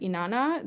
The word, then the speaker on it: Inanna: Is it Inanna, the descent of Inanna? Is that how you Yeah, pronounce her name?